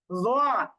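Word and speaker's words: ظ: তাহলে জালের ক্ষেত্রে আকার হয়, আর জটা মুখটা গোল করে উচ্চারণ করতে হয়। জাল দেবো জা, আর জ দেবো জ, কিন্তু দুইটাই জিহ্বার আগা উপরের দাঁতের আগার সাথে লাগিয়ে নরম করে উচ্চারণ করছি।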